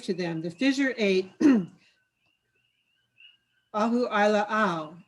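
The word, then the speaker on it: Ahuʻailāʻau: them the figure eight ahu ai la ao and i only learned how to pronounce that name a couple days ago because officially the fissure eight is named ahu aila'au its hawaiian name which complements apparently the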